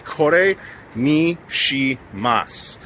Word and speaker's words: kore ni shimasu: It's kore ni shimasu. You don't say the u at the end.